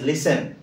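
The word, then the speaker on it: listen: ঘরবি জুটি রানা রাজা রানী বানানের মধ্যে সরো লিসেন কোন কইবা লিসেন ইট ইজ লিসেন আর এই ওয়ার্ড আমি লিসেনিং আইএনজি বাট লিসেনিং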